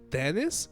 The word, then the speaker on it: dentist: But no, Dennis is how American pronounce dentist, the doctor of of teeth. Uh, but they don't pronounce T. They pronounce Dennis.